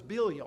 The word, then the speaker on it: Belial: He's often referred to as Belial or Belial, depending on how you pronounce it, which simply means worthless or wicked, but he presents himself as being worthwhile.